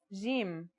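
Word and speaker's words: جيم: our first letter is Jim this one is easy to pronounce it's somewhere between a g and a j depending on the accent for example Standard Arabic Syrian or Egyptian in Standard Arabic and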